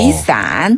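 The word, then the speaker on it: 雨伞: 트죠 자 한번 볼게요 우리가 우산을 위산이라고 하는데요 중국어로는 위산 위산네 우산 그 글자를 한자 그대로를 중국식으로 발음하면 위산 이고요네 되게 쉽죠 요걸 간단하게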